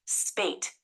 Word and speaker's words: spate: It's pronounced spate, which means a large number of similar things happening in quick succession.